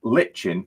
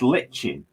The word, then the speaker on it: lichen: um csx for rennesville is it pronounced lichen or listen i think it's lichen l-i-c-h-e-n lichen i do think it's pronounced lichen i cover the lichen in